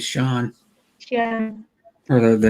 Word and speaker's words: Sean: and sean yeah sean sean is not cnn because everybody called himself yeah yeah because that's how it looks like it'd be pronounced but yeah that's not how we uh in the history of words sean i think that they pronounced it always sean yeah for the name